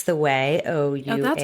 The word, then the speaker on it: Ouai: It's the Ouai, O-U-A-I.